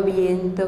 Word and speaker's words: viento: По-испански эти три существительных совпадают фонетической структурой. Это двусложные слова с ударением на первом слоге. Слова меняются местами, ритм остается. Agua, viento, piedra.